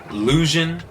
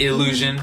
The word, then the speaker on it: Lusion: so for everyone listening it is pronounced lusion it is not illusion there's no I the baby so one